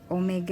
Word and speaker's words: omega: Ini omega bacanya ya, bukan W.